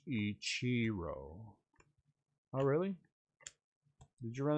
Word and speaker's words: Ichiro: Ichiro, or as I was told, Ichiro, but I'm going to say Ichiro. Actually, you say that incorrectly. It should be pronounced Ichiro.